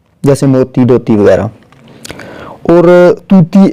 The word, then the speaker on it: طوطی: موتی، دوتی وغیرہ، اور طوطی ایک الگ پرندہ ہے اور جس کا تلفظ جو ہے واو معروف یعنی جوتی کی طرح ہے۔ اب طوطی کا جو